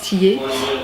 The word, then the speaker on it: Thilliez: style is mais bon apparemment ça se prononce tillé et c'est un auteur